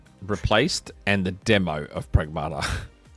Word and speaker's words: Pragmata: Uh it's funny how I didn't go with the Australian style um pronunciation and it turns out that's what it is. Pragmata.